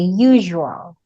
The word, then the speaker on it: usual: So, you pronounce letter S as if you are reading letter Z.